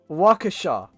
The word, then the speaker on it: Waukesha: What? Washa? Waisha? Dale, I don't know, man. You're just gonna keep making me butcher Native American town names. Waukesha. Waukesha. Okay, Waukesha.